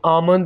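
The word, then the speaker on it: almond: बादाम को इंग्लिश में आमंड बोलेंगे, यहाँ पर हम एल को साइलेंट रखेंगे, आमंड।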